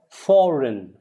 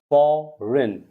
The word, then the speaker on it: foreign: Then you have foreign, not foreign, foreign. Remember, foreign, it's not foreign, foreign. Foreign, very important to know your silent letters.